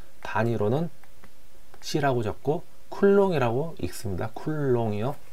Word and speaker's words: 쿨롱: 자, 얘는 전 시간에 배웠던 것과 같이, 자, 기호로는 Q로 나타내고 단위로는 C라고 적고 쿨롱이라고 읽습니다. 쿨롱이요.